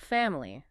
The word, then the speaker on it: family: Well, think about the word family. Said quickly, it often sounds more like family. Family. Yeah, I hear that. That middle I gets really reduced, almost disappears.